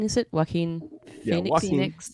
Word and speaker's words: Joaquin: Joaquin, is it Joaquin Phoenix? Joaquin.